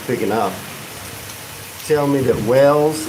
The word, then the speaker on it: Wells: Tell me that wells is pronounced like the fish, not like the thing you dig.